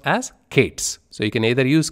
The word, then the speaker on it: k8s: K and s in kubernetes and it is pronounced as Kate's so you can either use cube as a shortcut or Kate's or Kate as our kubernetes it's up to